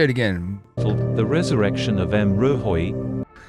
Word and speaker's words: M'rohoj: confused so Hoy so just pretend that the J is pronounced as a I okay so it's m rohoi all right cool beans